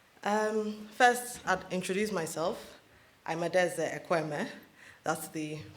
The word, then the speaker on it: Adaeze Ekwueme: I'm Adaeze Ekwueme. That's the pronunciation.